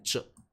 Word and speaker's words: 着: 这个要念着啊，当然